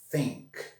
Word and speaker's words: think: Think, sink, think, sink, think, sink, think. Vocês percebem como é fundamental a pronúncia?